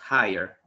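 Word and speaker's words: hire: iron wire ayer no digamos la pronunciación es haier repitan la usted aguanta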